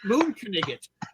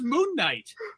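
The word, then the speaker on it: Moon Knight: And I said, "It's pronounced moon kanigot." And he said, "I thought it was moonight." And he said, "No, you have to remember he's Egyptian." The Egyptian pronunciation.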